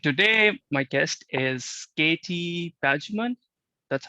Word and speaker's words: Pajooman: the society and today my guest is katie pageman that's how you pronounce it okay katie is a nutritionist here